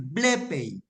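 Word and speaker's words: βλέπω: está ahí blep ojo hay un acento en la épsilon Entonces se debe leer blep blep recuerdan ustedes qué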